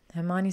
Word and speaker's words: Hermione: How to correctly pronounce her name. "Hermione," she said slowly and clearly.